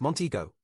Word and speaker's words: Montego: Also, it is pronounced Montego, you fleshy fool.